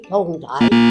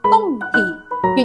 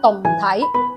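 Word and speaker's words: 胴體: 我揀 A 同體。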